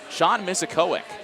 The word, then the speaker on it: Sean Misikowic: Sean Misikowic. That's how you say his name.